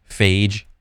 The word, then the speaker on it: Fage: Fage beyond the gym.